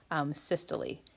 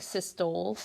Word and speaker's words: systole: Systole. It looks like systole, but they pronounce it systole.